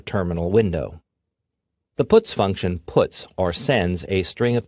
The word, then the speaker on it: puts: They are pronounced: printf, putcar, and puts.